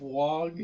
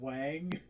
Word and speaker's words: Wang: the uh irs agent always mispronounced evelyn's last name instead of wong she always said wang which i thought was